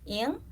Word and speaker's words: Nguyen: name and calling me Yen, because my name is spelled Y-E-N, but there's like a little accent mark and like a little hat over the E, and it's actually pronounced Ing.